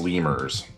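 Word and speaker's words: Lemure: where are they ah they are called lemur or lamir um they are um one of the lowest levels of devils um oh they're it's pronounced lemur I just remembered lemur yeah uh lemur arise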